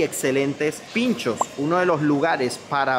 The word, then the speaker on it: pintxos: Fíjense cómo se escribe pinchos con la X en vez de la CH.